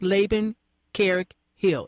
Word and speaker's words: Laban Hill: And I guess today, if I pronounce his name correctly, because my computer, I got used to my computer, it's Laban Hill.